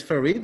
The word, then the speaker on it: Farid: you do these days yes my name is farid it's correct and uh farid and